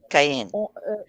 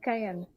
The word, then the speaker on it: Caen: How do you pronounce that? Cayenne. Cayenne. It's pronounced Cayenne. Paula, you're going to have Cayenne.